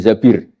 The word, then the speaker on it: Zabir: nikah sama Abdurrahman Bin Zabir di di hadis ini bukan bacanya bukan Zubair tapi Zabir Abdurrahman Bin Zabir tapi